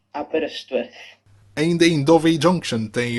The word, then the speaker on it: Aberystwyth: Julgo que seja a pronúncia em gaulês. Aberystwyth.